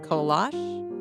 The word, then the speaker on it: kolache: Go to different areas of the state and you might hear it pronounced kolache, kolach, or kolache.